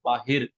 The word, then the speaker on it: बाहर: So the way this author has written is it Bahir, okay? But in interest of pure Hindi, I'm going to pronounce it as Bahar only, okay?